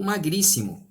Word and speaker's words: magríssimo: A pronúncia correta, a escrita correta é macérrimo, tá? Macérrimo. Ou magríssimo.